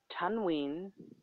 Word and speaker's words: tanween: Tanween means two times short vowels on the alphabet, which sounds like noon.